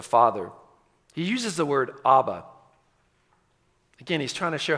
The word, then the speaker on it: abba: have noted it's because when you pronounce the aramaic word abba you don't need to have teeth think about that for